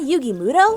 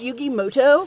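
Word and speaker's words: Yugi Muto: turn wait a minute is that yugi mudo actually his name is pronounced yugi moto we'll see about that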